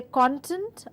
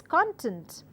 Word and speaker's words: content: and the word is content. So, when I stress on the second part of the word, I mean content, and I mean a verb there, it has a different meaning, it is used in different context.